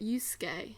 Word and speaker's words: Yusuke: That you pronounce it Yusuke.